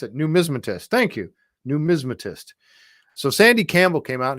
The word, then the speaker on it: numismatist: I love Gary's reaction to those too numismatist numismatist thank you Linda she is she wonderful she's helping me pronounce it numismatist thank you numismatist so Sandy Campbell came out and he looked